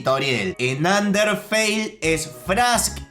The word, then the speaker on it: Toriel: Otra cosa que me llamó mucho la atención, que me estuvieran reclamando, es que se pronuncia Frisk y Toriel, no Frask y Tarial.